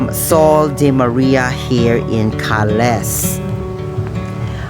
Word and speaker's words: Carles: de Maria here in Cales. I know I can pronounce it better in a very own dialect, or we call it Carles, Philippines, Carles, Iloilo.